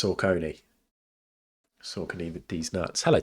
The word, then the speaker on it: Saucony: It's pronounced Saucony.